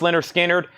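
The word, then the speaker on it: Lynyrd Skynyrd: are you talking about we have lter Skinner pronounced this is $64.99 pronounced lter skinnard that is a 45 RPM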